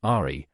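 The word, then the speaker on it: 愛: a central Force curiously the Chinese ideogram for the word love which in Japanese is pronounced Ari has a second Buddhist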